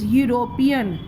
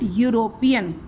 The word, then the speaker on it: European: This is vowel E, but we pronounce it European. The sound is U, and U is a consonant sound.